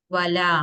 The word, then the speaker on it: ولا: ولا هم इसका अलिफ अच्छे से प्रोनाउंस होना चाहिए। वला।